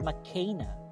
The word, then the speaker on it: McKenna: the year 2012 but mckenna brooks but apparently her name is pronounced makena so it is different anyway she's a new